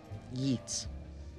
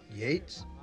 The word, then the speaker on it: Yeats: Aún piensa en el poema The Second Coming que leyó hace 2 episodios, pero pronuncia mal el apellido del autor. Yeats. AJ. Yates?